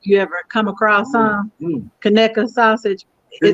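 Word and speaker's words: Conecuh: your life if you ever come across some kaneka sausage they like crack it comes from a place called connect alabama but uh it's spelled c-o-n-e-c-u-h but it's pronounced connected do you eat this on a hot dog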